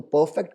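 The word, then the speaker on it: perfecto: तो परफेक्ट को हम स्पेनिश में बोलते हैं परफेक्टो। परफेक्टो। अब देख रहे हो मैं कैसे बोल रहा हूँ, परफेक्ट नहीं बोल रहा, परफेक्टो, परफेक्टो। जी, हमको ध्यान देना है प्रोनाउंसिएशन पे भी, तो इट्स परफेक्टो।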